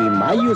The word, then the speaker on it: Mallo: Y Mayo se escribe como gallo. L-L-O, Laboratorios Mayo.